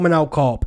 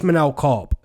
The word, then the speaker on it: Manel Kape: the comment section below saying his name's not Manel Kape, it's Manel Kape. Now, it does say Manel Kape, but the pronunciation is Manel Kape.